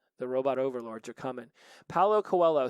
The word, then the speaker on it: Paulo Coelho: let's see I had to look it up Paulo Coelho let's see let's hit this button Paolo Coelho you know you can type somebody's name in